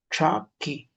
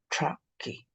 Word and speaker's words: chaki: Pero el sonido más antiguo, y eso ustedes lo van a leer en el manual de escritura, también sale de ese modo. Traki.